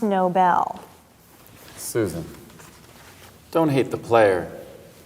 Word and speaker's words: Nobel: from the guy who wrote that deserves the novel Peace Prize it's pronounced Nobel Susan don't hate the player hate the game